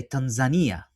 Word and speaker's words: Tanzania: one of the first, or I should say Tanzania, right? Yeah, That's the right way to pronounce it.